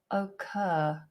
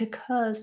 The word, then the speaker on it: occur: Some people who are very posh might use a different vowel. They might do more of an O. Occurs. But I would highly recommend you start this with a schwa.